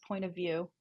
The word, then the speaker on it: Point of VU: I think it's just Point of View SFF. Ooh, I hope I'm correct. Yeah, but you can just search for Point of View Student Festival, and view is spelled VU.